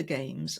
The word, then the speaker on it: Gamse: name is games and we say games we spell it g Ms e right don't ask it's